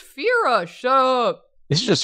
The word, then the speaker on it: Fira: i'm cast i'm casting phyra right now it's pronounced fira shut up this is just starting to look